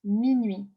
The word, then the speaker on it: minuit: It's minuit, M-I-N-U-I-T.